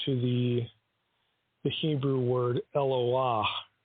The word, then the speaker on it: Eloah: the the Hebrew word eloah it's not pronounced Aloha it's Loa and that is used